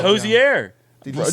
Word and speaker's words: Hozier: it fun since it's Once and for all, pronounce your name. No. All right, that's bad. Say hello. Is that him? Here. Andrew Hozier. They all keep saying it. His But name, maybe you say Hozier.